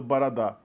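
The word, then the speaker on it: борода: O que é escrito borodá é pronunciado baradá.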